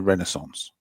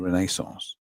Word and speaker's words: Renaissance: And I said, "Oh, you mean the Renaissance?" They go like, "Why did you say why do you say it like that?" I said, "It's the Renaissance." I said, "If it's a French word, come on."